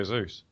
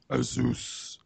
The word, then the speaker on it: ASUS: uh it's made by ASUS ASUS however you want to say it how do you want to say it I say isus Aus yeah I say Asus okay this is going